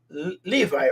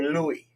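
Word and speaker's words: לוי: includes the tribe of Levi or Louis, depending on how you pronounce the vav. If you pronounce it va, it's Levi. If you pronounce it wa, it's Louis, like Louis Pizza.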